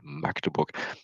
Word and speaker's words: Magdeburg: It's called not how it's pronounced in the TV. They usually do it wrong. It's called Magdeburg.